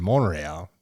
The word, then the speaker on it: Montreal: I also props to your Canadian pronunciation monreal that tea is is basically silent you know and you